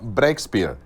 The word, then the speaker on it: Breakspear: people today we have a special guest brexpert did i pronounce that correct this time yes this time